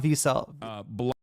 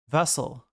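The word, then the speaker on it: Wessel: When I no, not Wiesel. How do you pronounce that in German? First I came for Destiny. I didn't speak up because I wasn't a pedophile. Vessel.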